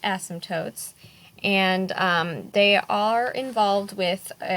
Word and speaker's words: asymptotes: called asymptotes it's a funky word but it's pronounced asymptotes and they are involved with rational functions and